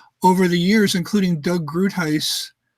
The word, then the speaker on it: Groothuis: the years, including Doug Groothuis. Groothuis? Am I pronouncing it? Yeah, I mean, he came out, I mean, he was very gentle in his response.